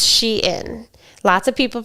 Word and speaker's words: Shein: Um it started as she inside then they shortened it to Sheen. So, I thought it was pronounced shine and I thought it was sheen, but it's sheen.